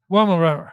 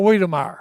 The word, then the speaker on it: Weimaraner: Weimaraner. Or Weimaraner. There's two ways to pronounce it.